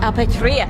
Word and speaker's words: Apatrida: Apatrida. Yeah. See, that's the bit I couldn't pronounce.